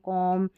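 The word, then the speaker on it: comb: फिर ये देखिए MB का कॉम्बिनेशन रहता है ना लास्ट में, MB का कॉम्बिनेशन, तो यहाँ पर B साइलेंट है। अब इसको बॉम्ब नहीं पढ़ते ना, बॉम्ब, कॉम, टॉम, डम और लैम, यानी M है ना वहाँ तक ही पढ़ना है, B का उच्चारण नहीं होगा।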